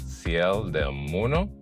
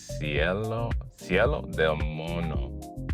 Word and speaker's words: Cerro del Mono: This hike that we'll be going to is called Sel demono. I'm not pronouncing it correctly. Let me try again. Sello demono, which is Monty Hill.